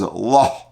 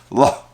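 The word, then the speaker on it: לה: would be pronounced as la, and you pronounce the hey in some way with more of maybe a guttural sound, la.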